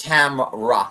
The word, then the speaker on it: Tamra: You're adding an extra syllable with her name. It's Tamra, like She-Ra. Tamra. What did I say? There's no Tamara. A in the center of that. There's just Tamra.